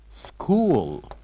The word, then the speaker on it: school: they are going to school school repeat after me school so what do you think the uh silent letter here in this word of course it is is letter H school and now we'll move